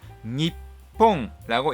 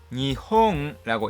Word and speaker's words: 日本: 현대 일본어인 하히후헤호 바뀌었습니다 그렇기 때문에 일본이라는 한자를 니뽕라고 읽는 것이 더 오래된 것이며 니홍라고 읽는 것은 새로운 발음입니다 일본이라는 한자를 읽는 두